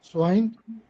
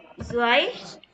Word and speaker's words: zwei: V வந்து F pronounce பண்ணும். Where? Fear ரெண்டா? No, ma'am. Art. Okay, fear. Swine. Zwei.